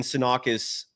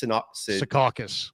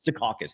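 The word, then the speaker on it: Secaucus: been leaked um from the NBA headquarters in sakis is that you pronounce it s sakas sakas thank you uh in sakas New York it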